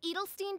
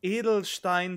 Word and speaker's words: Edelstein: crystal oh no oh the pronunciation of the german words it's edelstein their dunkerheight edelstein their dunkleheid edelstein on the contrary mainfry